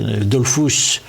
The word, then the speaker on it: Dollfuss: Et donc Dollfuss, je le prononce à l'allemande. Oui, j'en prie, mais moi je prononce les mots autrichiens à l'allemande, mais c'est normal.